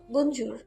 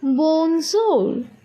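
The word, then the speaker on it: bonjour: ফরাসিতে আমরা বলি বনজোর। মিষ্টি তার উচ্চারণের চেষ্টা করলো। বঞ্জুর। না আপু, একটু নরম করে বলুন, শুনুন, বনজোর।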